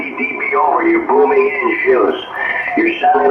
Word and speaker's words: Gilles: If you want, you could say Gillis too. Okay, how do you say it in French? Gilles is correct? Gilles. Gilles, yes, Gilles.